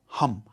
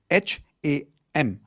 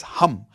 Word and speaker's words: Ham: The fifth chakra is your throat chakra which is sound of hum. H a m. It's not ham. Okay? It's hum like how you would say hu m.